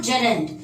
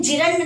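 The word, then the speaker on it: gerund: First is that is called जेरेंड। इसको कैसे pronounce करेंगे? जिरंड नहीं बोलेंगे, दैट इज कॉल्ड जेरेंड।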